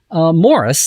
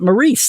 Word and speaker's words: Maurice: name number one is actually pronounced Morris and not Maurice the way we've all been saying it for all these interesting